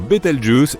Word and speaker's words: Bételgeuse: Quant à la manière de prononcer correctement Betel Jeuse, tu peux le faire comme bon te semble. Tu peux même dire Betel Juice si tu en as envie.